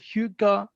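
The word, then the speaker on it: hygge: hugo yeah it says uh the word says pronounced hugo is a danish word used to acknowledge a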